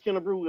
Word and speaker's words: Kennebruew: kerw me and uh Larry Frank am I pronouncing your last name right Miss kerw am I saying it right you perfect I